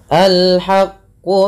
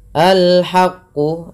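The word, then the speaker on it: الْحَقُّ: Alhaqqu mirbik. Alhaqu. Ya, perlu kita pahami kalau yang seperti ini dibaca a ya di awalnya. Dan di sini ada alif lam qamariah. Dibaca dengan jelas suara lamnya.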